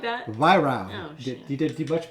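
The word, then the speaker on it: Weihrauch: YROW. Oh, shit. You did much better. I think last time I said YROC. YROW. YROW. YROW. That's how they say it in Germany.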